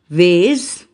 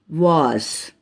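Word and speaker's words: vase: address the third example v-a-s-e american pronunciation ways british pronunciation was you can repeat after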